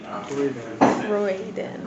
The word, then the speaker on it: Croydon: We are at Bob, your uncle's in South Croydon. Is that how you say it? Croydon. So you don't pronounce the O. Croy. It's C-R-O-Y. It's like, but you know, crow, like, the O pronunciation is different.